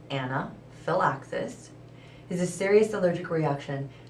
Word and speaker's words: anaphylaxis: outside the lower gym anaxus pronounced Anna Phil axis is a serious allergic